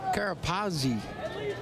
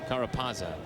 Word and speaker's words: Carapazza: Good call right there from Carapazzi. Am I saying it right? Carapazza. Carapazza. You added the I that you and I have in common.